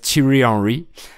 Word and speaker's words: Thierry Henry: Si je vous dis Lilian Thuram, Thierry Henry, à prononcer à l'anglaise Thierry Henry, Gaël Monfils, le joueur de tennis, Michel Houellebecq, l'écrivain, mais aussi le chanteur français décédé, Henri Salvador.